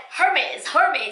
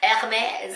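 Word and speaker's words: Hermès: I know everybody's like Hermes. I'm like, what is Hermes? Hermes.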